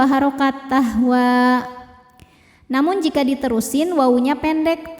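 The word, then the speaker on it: تهوى: Wa ma tahwa. Saat berhenti di wa, hukumnya adalah mad tabi'i. Karena huruf ini adalah huruf alif, alif bengkok ya. Alif didahului fathah maka panjang 2 harokat tahwa.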